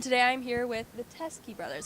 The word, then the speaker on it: Teskey: 27 2018 and today I'm here with the teske brothers how you guys do it very good thank you I pronounced that right right yeah yeah perfect I